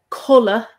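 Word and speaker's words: codladh: well because of course um color c-o-d-l-a-d-h sleep um that has the d there but often people wouldn't pronounce that d or i don't know if anyone does never heard anyone saying cuddler no no no no color that's sleep color so colleen coddling means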